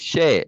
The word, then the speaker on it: Cher: Cher was sharing. I call her Cher, but she says share, like share.